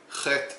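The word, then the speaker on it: חית: Okay, because the pronunciation today is that chet is pronounced as a ch, but older pronunciation pronounces a h, deeper in the throat.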